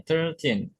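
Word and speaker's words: thirteen: 13, bukan tir, tapi ter bacanya. 13.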